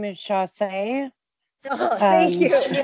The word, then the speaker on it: Chausse: Chausse. Chausse. No, it's French. It's S-S-E-E. Oh, okay. Yeah. Gotcha. Like sachet, but not.